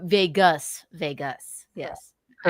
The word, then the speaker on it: vagus: We'll read a It's few not of these. spelled like Vegas, it's VEGUS. Oh, Vegas.